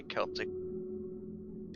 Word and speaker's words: Celtic: Celtic hard C because the Irish are not soft.